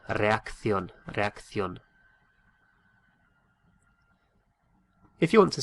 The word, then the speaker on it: reacción: And it's spelt R-E-A-C-C-I-O with an accent N. What would that be? Reacción, reacción, reacción.